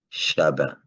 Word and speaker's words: chabin: française elle même pas alors chavin comme on va prononcer avec la phonétique espagnol levé donc deviendra b et on va dire chabin comme on dit à créole aujourd'hui alors aujourd'hui on